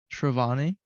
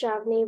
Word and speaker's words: Shravani: much experience in AI shravani um yeah so actually it's pronounced shravni but it's okay A lot of people get it wrong um so I'm in India currently in grade 11.